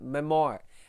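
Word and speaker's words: memoir: It's it should be pronounced as memo. That's a veryali way of saying or pronouncing the word.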